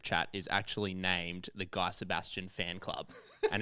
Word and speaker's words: Guy Sebastian: I've spoken a bit about it on this show before, but my family group chat is actually named the Guy Sebastian Fan Club.